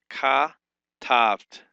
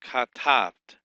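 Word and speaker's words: כָּתַבְתְּ: Both shavas in this form are silent. Both the one under the vet and the one on the top, they're silent here. The word is broken in syllables as ka-taft. Two syllables, ka-taft.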